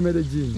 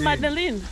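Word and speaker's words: Medellín: Medellin? I thought it's Madeline. Oh. I keep saying Madeline. It's the same. Yeah. It depends on the pronunciation. Yeah. Actually, the real pronunciation is Medellin. Medellin. Medellin. Medellin. Is that Hispanic or French? But no, it's actually Spanish.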